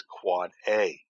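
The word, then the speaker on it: AAAA: 4 A's indicate that it is an IPv6 address, normally pronounced as Quad A.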